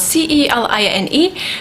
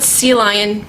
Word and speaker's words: Celine: It's spelled C-E-L-I-N-E, not, not, not Celine, but Celine.